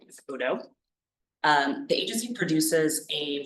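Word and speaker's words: ODOE: Oregon Department of energy also known as Odo o o pronounce that Odo um the agency produces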